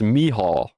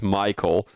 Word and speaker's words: Michael: So as a normal European guy, you would think that's Michael. Apparently it's Mihal.